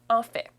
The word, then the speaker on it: en fait: En fait, on le prononce ainsi. En fait.